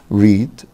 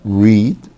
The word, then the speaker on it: read: عندنا كلمة write, write, wrote, wrote, read, read, read, read. خلي بالكوا حبايبي هو نفس الـ spelling بس النطق مختلف، دي read لكن دي read, read شكل اللون الأحمر كده.